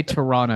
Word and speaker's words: Toronto: texted for him yeah you got to say Toronto you can't pronounce the second T you always remember that